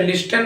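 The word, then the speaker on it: listen: पी ए जाता है तो भी टी का उच्चारण नहीं होता जैसे ल आई एस टी ए एन हम इसे लिसन नहीं बल्कि लिसन पड़ता है सी ए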